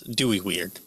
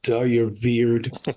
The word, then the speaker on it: Dooyeweerd: And so 1894 to 1977 is when I think you pronounce it like Dooyeweerd. The W is pronounced as a V, I think, in German.